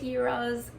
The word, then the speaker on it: gyros: Steak gyros.